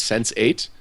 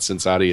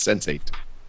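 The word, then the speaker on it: Sense8: The Alex, the TV show you were talking about was Sense 8, which apparently is how that archetype is pronounced. It's not Sensati, it's Sense 8.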